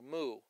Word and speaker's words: Mu: And interestingly enough, 60 people on the island of Hawaiian descent said moo. Mu is the way it's spelled.